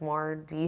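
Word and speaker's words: MarDe: It's spelled M-A-R, capital D, lowercase e. So his name is Marlon, and then middle name is Devon, but his dad's name is Devon, so it's like Mardy.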